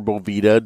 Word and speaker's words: Boveda: I keep that filled with distilled water, and then I keep a couple of Boveda packs in there, or Boveda, depending on how you pronounce it.